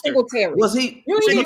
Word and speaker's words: Singletary: Devin Singleton. Singletary. You said it wrong. It's Singletary.